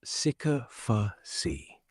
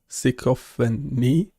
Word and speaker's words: sycophancy: The si bit sounds like si, not sick. Give it- and knee. Sycophany? Sycophany? Close, but it's sycophancy. Stress on the first syllable.